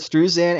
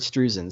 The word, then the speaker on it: Struzan: you had uh drew how do you pronounce his last name was it struzan yeah well i've heard strews in and i've heard streusen so we'll just either or i mean that if you